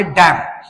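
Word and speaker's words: damn: पुढचा जो एक्झाम्पल आहे डम आणि डम या शब्दाचे वाचन करता डम इथपर्यंतच आपण वाचन करणार आहे आणि यातला जो एम हा लेटर जो आहे तो आपलला सायलेंटली ठेवायचा आहे त्याच्यानंतर आहे कॉलम आणि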